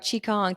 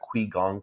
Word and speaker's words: Qigong: you I'm excited because we're gonna talk about Chong today if am I even saying that right